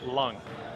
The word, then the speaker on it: Leung: I was calling Leung. I was saying Leung. It's actually pronounced Lung. Lung.